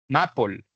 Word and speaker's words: maple: Las palabras que terminan en L se pronuncian como si terminaran en OL. Listo. Apple, maple, people.